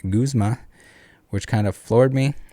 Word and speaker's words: Guzma: guzma's name as a gazma i've heard that too quite a bit in my head someone said a lot when i said it aloud my sister and others pointed out that it's pronounced guzma which kind of floored